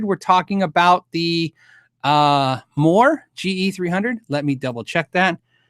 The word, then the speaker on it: MOOER: MOOER uh MOOER is the company m o o e r, pronounced MOOER uh like moo r.